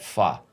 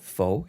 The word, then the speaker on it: pho: He's like, "Let's go get pho." I'm like, "Isn't it pho?" He goes, "No, it's pho, man.